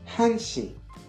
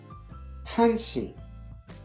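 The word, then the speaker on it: 한 시: ou 4 perdent leur lettre finale pour une prononciation plus fluide. On va revoir ça tout de suite. Une heure se dit hanshi, hanshi.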